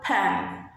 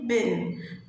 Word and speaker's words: pen: محدش يقول لي بن، it's wrong. يبقى القلم الجاف اسمه ايه؟ pan pan pan pan. يبقى ال p هنطقها زي يعني صوتها كده الصح، p p p pan p p pan pen اللي هو القلم الجاف.